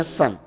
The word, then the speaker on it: sun: yang dari Mesir tadi tulisannya Itu pakai u Pak sun sun bacanya San itu kalau ditambah light kayak